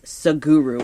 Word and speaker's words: Sadhguru: And then, but you can hashtag how he in most places is hashtag SADHGURU, and that's Saguru is how you pronounce that.